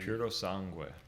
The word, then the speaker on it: Purosangue: How do you pronounce it? You're Italian. Purosangue.